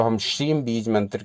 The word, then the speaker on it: श्रीं: शम शम जब हम श्रीम का उच्चारण करते हैं तो कहा गया कि इसमें चार वर्ण हैं। कौन-कौन से? श, र, ई और बिंदु।